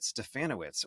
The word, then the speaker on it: Stefanowicz: Our Guest is stefanowitz welcome awesome thank you sck perfect pronunciation too rhymes with banana banana witz yeah it always works